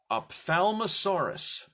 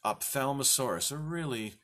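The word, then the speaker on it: Ophthalmosaurus: Opthalmosaurus. It looks a lot worse, the word, to pronounce than it actually is. If you've ever been to an ophthalmologist, what does that have to do with the eye?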